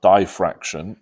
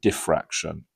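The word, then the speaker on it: diffraction: It's sometimes pronounced diraction in in particular some parts of the world. Uh we tend to pronounce it defraction.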